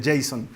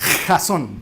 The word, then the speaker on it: Jazon: si así se pronuncia razón hay gente que se cree que se pronuncia jason no se pronuncia razón de hecho en realidad se pronuncia razón pero es horrible que